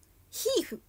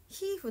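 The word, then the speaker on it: HEIF: は調べてみようヒフヒーフって読むらしくてそう読むらしくててかヒフなんですよそうヒフだったのだ拡張子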